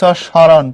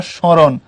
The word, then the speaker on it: স্মরণ: পদের আদ্য ব্যঞ্জন মানে ম যুক্ত হলে উচ্চারিত হয় না, তবে সামান্য নাসিক্য প্রভাব হয়। যেমন লেখ স্মরণ পর্ব স্মরণ, লেখ শ্মশান পর্ব শ্মশান।